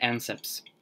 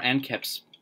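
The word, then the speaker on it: anceps: ion and an uh an ancepts or ant caps depending on how you pronounce it and then uh this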